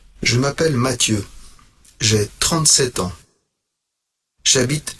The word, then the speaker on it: Mathieu: Oui, mais Mathieu est un prénom anglais. Et ici, il est français. Et en français, c'est Mathieu.